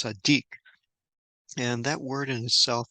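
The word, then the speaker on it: צַדִּיק: uh, Dalet Yud and the Kuf, and is pronounced Sadiq.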